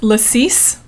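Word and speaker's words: lacis: drink too oh and thank you Brooke for it's lassis okay I often don't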